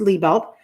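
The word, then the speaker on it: Lebelt: you wear around your pants but it's just pronounced Le belt Kirsten Le belt everywhere on social media okay and at the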